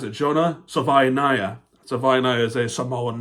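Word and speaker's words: Savaiinaea: So I looked it up, and they had some different pronunciations, like Salvinia or Salvinaya.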